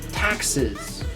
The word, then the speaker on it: taxes: You have to be very clear with your big A sound. Taxes. Taxes. You kind of have like a Z right here.